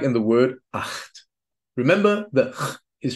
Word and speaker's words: acht: And rule number 5, the combination of the consonants C and H is pronounced like ch, at least after the vowels A, O, U, just like in the word acht.